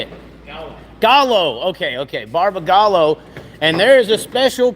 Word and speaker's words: Barbagallo: do you say it Gall Gallo okay okay Barba gallo and there is a special paint Scheme going